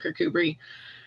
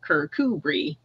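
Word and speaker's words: Kirkcudbright: modern day character say I gave it the proper the proper pronunciation of you know and then you spell it phonetically you know kirkubri so that after that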